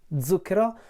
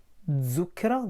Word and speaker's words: Zucchero: feel the difference is zukra the way I say it with the Z voiced Z whereas I think that